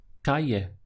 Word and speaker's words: calle: Street in Spanish is calle so the pronunciation is just two syllables car yeah so we have car here and this double el creates y so with the e yeah Calle is Street the word